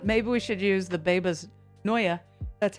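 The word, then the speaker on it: Bebas Neue: Maybe we should use the Babas Noya. That's how it's pronounced.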